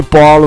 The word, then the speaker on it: polo: A pronúncia da letra O é O, O, tanto na primeira sílaba, PO, como na segunda sílaba, LO, POLO, POLO.